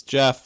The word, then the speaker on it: Jeff: Hello, my name is Jeff. It rhymes with breath, which is one of